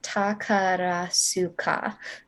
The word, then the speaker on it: Takarazuka: Yes, it is Takarasuka. Yeah, I cannot pronounce that.